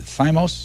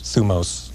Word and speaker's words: thymos: Is it thymos? Thumos. Thumos. Yes. I knew I'd have it wrong.